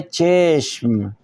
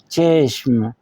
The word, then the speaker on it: چشم: جو ہے وہ ہے چشم۔ کیا ہے؟ چشم۔ چے کے نیچے زیر ہے، چشم۔ جس وقت ہم چشم